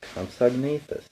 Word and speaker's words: Compsognathus: This is how you say it, Compsognathus. This dinosaur was small. It was as big as a cat, but it could run fast. It could catch other animals and eat them. Its name is Compsognathus.